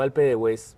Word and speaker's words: Alpe d'Huez: se pronuncia Alpe d'Huez, Yo lo pronuncio lo más colombiano que puedo. Yo digo Alpe de Hues, Alpe d'Huez, pero veo que hay una gente que se la juega por ser lo más francesa posible y sería, y suena